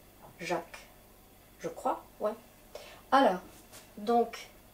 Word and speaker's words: Jacques: les prénoms yves jacques il a un s à la fin jacques je crois quoi alors